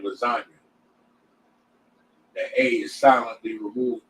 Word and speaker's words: lasagna: Like how the G is silent in the word lasagna.